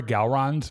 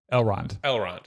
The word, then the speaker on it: Elrond: can't, like, I remember Galrond because I've seen Lord of the Rings. I swear to God, Chris. Okay. Wait, did I say his name wrong? Elrond. What did I say? You said Galrond.